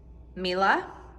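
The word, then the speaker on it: Miele: You guys, I'm pretty sure the correct way to say it is Mila.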